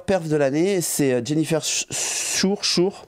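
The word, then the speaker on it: Suhr: Elle a la meilleure perf de l'année, c'est Jennifer Schur, bon S-U-H-R, je sais pas comment vous dites, mais les Américains je pense que le U ça se prononce Schur.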